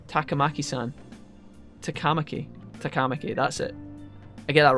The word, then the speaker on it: Takamaki: see an so easy it's literally like one syllable and T takamaki San takamaki takamaki that's it I get that wrong every time